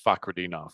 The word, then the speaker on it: Fakhretdinov: That's a tough fight because I don't know how you say his name, Rinat Fakhretdinov in this fight. Yes, Rinat Fakhretdinov.